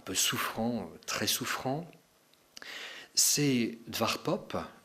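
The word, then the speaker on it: Edward Poppe: souffrant très souffrant c'est DV pop je prononce à la flamande Edward pop un prêtre et qui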